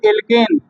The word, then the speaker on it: alkene: ठीक है, एल्कीन है तो एल्कीन है, यानी स्पेलिंग है ALKENE एल्कीन। लास्ट में ENE जोड़ते हैं, इन।